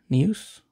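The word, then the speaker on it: Neuse: freshman flashback of Sheldon noose nuse that's how you say it got Pablo Lopez a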